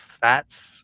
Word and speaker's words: Fatx: Uh, this next battle, I gotta preface it by telling Schmo it's pronounced Fats like it's a S. I watch your blog. Uh, it's a great blog. Uh, it's Fats.